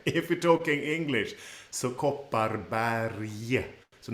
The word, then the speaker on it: Kopparberg: Kopparberg. And there is 2 R sounds in this word, and they are rolled with the tip of the tongue behind the top teeth.